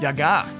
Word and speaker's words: Baba Yaga: English uh duub for Spirited Away they said Bobby Yaga too Yaga is the way to say it you got